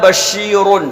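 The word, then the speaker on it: بَشِيرٌ: اس کی ہجے کرتے ہیں با زبر با. شین یا زیر شی. شین یا زیر شی. بشی. بشی. را دو پیش رن. را دو پیش رن. کیا ہوا؟ بشیرن. بشیرن. ٹھیک ہے.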